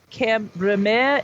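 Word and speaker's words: Cambremer: camera bear yeah but there is a town that is kind of spelled like kemme bear but it's cam ramen it's c-a-m-b-r-e-m-e-r yeah and that's right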